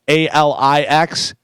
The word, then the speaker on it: Alix: I was trying to figure out how to say this next person's name because it looks like Alex, but it's with an I. Alix, Alex Earl, and it's a female.